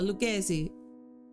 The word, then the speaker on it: Lucchesi: How do you pronounce that? Stop. Lucchesi. Oh, I was about to say Lucchesi. There you go. Lucchesi.